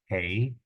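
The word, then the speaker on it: ἡ: practice prma prma here the rough breathing Mark is above the Ada hey is how you pronounce it hey here we have that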